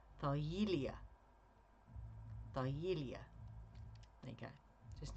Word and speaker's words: Thargelia: Thargelia. Thargelia is how you pronounce it, with the emphasis on the ye part. Thargelia.